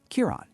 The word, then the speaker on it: Kiran: You need to pronounce it by emphasizing the first syllable and saying the rest more softly." After hearing him, she repeated his name once more, Kiran, you still need to practice more.